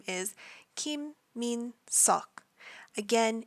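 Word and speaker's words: Minseok: real name is Kim Min sock again you pronounce the EO sort of in the back of your throat it's not an O it's not an ah it's all our next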